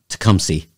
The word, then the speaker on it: Tecumseh: on March 21st at the Indian Crossing Trails Park in Tecumseh. Tecumseh. Yeah, that's how you pronounce it.